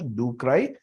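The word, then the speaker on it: ducreyi: patients do cry dukry we will pronounce it as ducry the why are the patients crying because it is painful.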